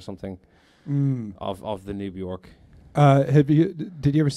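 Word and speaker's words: Björk: had told me that you don't pronounce the J and I kept saying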